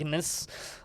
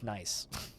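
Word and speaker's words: gneiss: It's like, because the G is silent. I didn't know that before I started playing Dwarf Fortress. I always thought it was called gnus, but no, it's nice.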